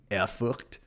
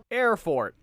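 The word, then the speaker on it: Erfurt: okay so I I I could pronounce it a little more German eort it's not going to sound good and to all German speakers uh I apologize B but I could do it that's right so we're just going to stick with the angelized way of pronouncing things for today's episode just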